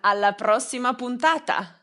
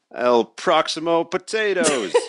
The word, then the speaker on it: alla prossima puntata: alla prossima puntata. El Proximo Potatoes. No, this is potatoes, it's different.